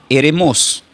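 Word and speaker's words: ἔρημος: La palabra desierto, del griego, se pronuncia como, quiero que tomen nota, eremos.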